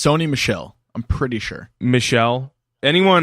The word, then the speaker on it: Sony Michel: 2 Michel so it's Sony Michel there you go perfect are you sure cuz I've said it wrong every single time so I said sunny Mitchell yeah I've just wasn't